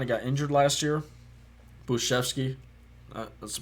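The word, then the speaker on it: Bujcevski: buczefsky got kind of got injured last year buschevsky that's pronounced that's the correct pronunciation he got injured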